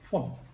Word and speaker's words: von: Words like Vater and von, although written with a V, are pronounced with an F, Vater, von.